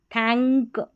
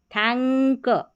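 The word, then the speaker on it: thank: देखिए पढ़ेंगे अंक, अंक ऐसा करके उच्चारण आएगा, यानी N को हम बिंदी के रूप में पढ़ेंगे और इस K को हम क के रूप में पढ़ेंगे। थैंक, क, थैंक, अंक करके आप उच्चारण करेंगे, पढ़ेंगे तो समझ में आ जाएगा।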